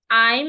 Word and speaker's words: I'm: Not I am learning. It's not yam. There is no yam in that sentence.